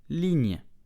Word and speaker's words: ligne: So, ligne, slowly, ligne, very slow, ligne. At normal speed, ligne. The li, okay, li, then the gn, ligne. And the e at the end is silent.